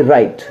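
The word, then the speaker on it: write: उच्चारण नहीं होता है, जैसे कि डब्ल्यू आर आई टी ई राइट। तो देखिए डब्ल्यू के बाद आर आ गया है तो हम इसको राइट पढ़ रहे हैं, डब्ल्यू हो गया साइलेंट।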